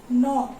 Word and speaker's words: gnaw: This word means gnaw. It is pronounced as gnaw, and it means to bite something and make a hole in it.